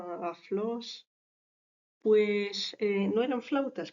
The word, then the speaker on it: aulos: Roma eran conocidos como el aulos tal y como se ve escrito eh se pronunciaría aflos pues eh No eran